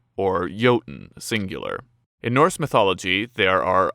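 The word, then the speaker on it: jötunn: known as Jotnar, the singular of which is pronounced Jotunn).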